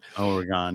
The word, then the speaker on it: Oregon: Oregon, yes, East Coasters always do that. Oregon. It's like a gun.